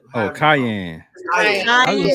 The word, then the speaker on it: Cayenne: the Scion, the Ceyenne. Oh, Cayenne.